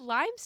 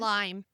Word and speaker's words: Lyme: Is it lime's disease or Lyme disease? Limeme.